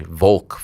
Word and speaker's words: Volk: Yeah, Volk. Yeah. Yeah, I'm sorry. Volk. Slide that L in there.